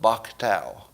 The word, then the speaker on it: BOCTOW: with an acronym called BOCTOW. That's how you'd pronounce the letters.